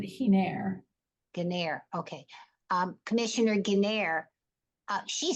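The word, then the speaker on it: Giner: Geiner? She actually pronounces it Hiner.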